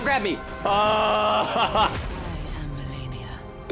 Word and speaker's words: Malenia: They do say Melania. They don't actually pronounce it Malenia, so it was maybe unreasonable of me to describe it as Slavic flavored.